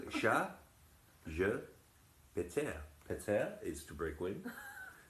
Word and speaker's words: ChatGPT: confusing in France because the French pronunciation is ChatGPT. And this in French sounds like cat, I have broken wind. Chat, je, péter.